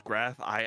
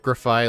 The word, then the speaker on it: Grafaiai: this guy says it's graph I I like reading the way it's spelled. Come on. I don't know. I say like graphi like the first part of graffiti. Graffi. Maybe it's graphi.